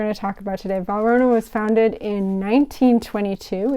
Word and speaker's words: Valrhona: Belle rata roughed your pets start with the pronunciations okay Varner that's what we're going to talk about today Verona was founded in 1922 it's a French Chocolate